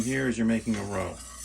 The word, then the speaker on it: roux: Basically what you're doing here is you're making a roux. It's spelled R-O-U-X. Some people say roux, some people say roux. But it's really a roux.